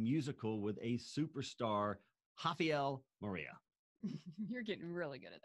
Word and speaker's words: Moreira: This week, we're going musical with a superstar, Rafael Moreira. You're getting really good at that name. Yes, I am, after saying it this many times. Yeah. Spells it with an R, pronounces it with an H.